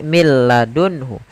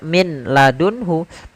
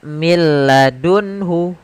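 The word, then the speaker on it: مِن لَّدُنْهُ: Contoh di sini mil ladunhu. Tidak dibaca min ladunhu, tapi langsung ke huruf lam. Karena nunnya dianggap tidak ada dan diidghamkan ke huruf lam. Maka mil ladunhu.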